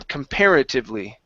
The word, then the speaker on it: comparatively: Okay, make sure to use your teeth and your lips, your bottom lip, to pronounce that V instead of comparatively. Okay, hit your tongue, your teeth on your lips.